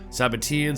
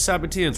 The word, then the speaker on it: Sabbateans: Then, yet again, I found a million different pronunciations. Well, not a million, 3, 4, 5. Sabbateans, Sabbatians. I'm gonna stick with Sabbateans, or whatever comes out of my mouth, no offense.